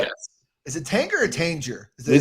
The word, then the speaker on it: Tanger: Is it Tanger or Tanger? They said Tanger on the show. It's Tanger. Yeah. It's like GIF. It's a hard G.